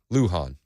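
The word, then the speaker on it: Lujan: your right 77-81 Texas lujin is pronounced Luhan well she doesn't deserve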